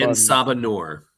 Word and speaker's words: En Sabah Nur: En Sabah En Sabah Nur which is Apocalypse when he was a slave.